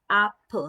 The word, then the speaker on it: apple: We have apple. Now, E makes 2 sounds. It says eh and it says E, and we hear neither of those at the end of this word. So E is silent.